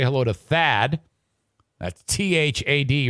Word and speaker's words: Thad: hello to thaad that's t-h-a-d rhymes with fad fad fad fad fads